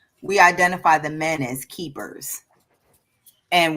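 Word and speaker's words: kephers: identify the men as keepers. And we spell it K E P H E R S like keepers.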